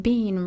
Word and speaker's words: Bean: And Colin, Bean rhymes with scene.